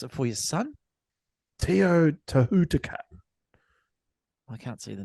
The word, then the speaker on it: Teotihuacan: I'll pronounce it for you, son. Teotihuacan.